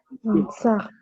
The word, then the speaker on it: enceinte: But the E at the end is silent. So we say Enceinte.